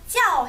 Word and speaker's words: 叫: 여기에서 야오 발음과 찌 발음이 합쳐서 찌야오, 찌아오 해주시면 돼요.